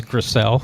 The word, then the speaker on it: Gressel: So, and not that it's a big deal, but it's Gressel. So Van Kirk.